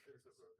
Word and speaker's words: Hirzebruch: Hirzebruch, okay. Yeah, the Z's are sharp.